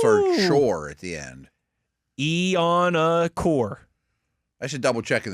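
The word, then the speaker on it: Iheanachor: and says, "Love Yins, but here's how it's pronounced. Max Ianachor is how he pronounces his last name." Never heard it pronounced that. Ooh. I've always heard shore at the end. Ianachor.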